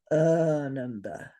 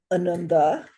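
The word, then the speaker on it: ānanda: This is because if you say Ananda, if you say Ananda, it means grief. So there's a big difference between Ananda, Ananda, and Ananda.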